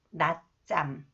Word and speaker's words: 낮잠: The 지읒, when the 지읒 follows the final consonant 디귿, the final representative sound is 디귿. That is pronounced 드. The 지읒 is pronounced 쌍지읒. 낮잠.